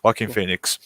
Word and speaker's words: Joaquin Phoenix: How do you pronounce it? Joaquin. That's it. Joaquin Phoenix.